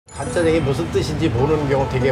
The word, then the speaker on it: 간짜장: 간짜장이 무슨 뜻인지 모르는 경우 되게 많은데요 원 발음은깐 짜장 간이라는 드라이하다 마르게 짜장을 볶는다 그런